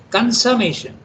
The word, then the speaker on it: consummation: Consummation is pronounced like an A, not a U, okay?